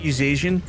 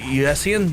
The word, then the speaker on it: USian: Uh US Oh, is that us Asian? I'm trying to say it correctly. USian US. Sorry, not US Asian.